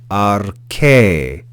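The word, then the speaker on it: ἀρχῇ: The second word we have here is arche, arche, arche. Notice that iota subscript is not pronounced. We just read that eta with a rise and fall of pitch on that vowel.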